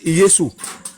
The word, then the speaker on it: Yesu: Leur manière de prononcer le nom de Jésus, il n'y a pas de J dedans. Et ils disent Yesu.